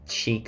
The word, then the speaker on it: chic: i actually didn't know how to pronounce the word cheek so i actually pronounced that chick because that's like kind of how you spell it it's so embarrassing i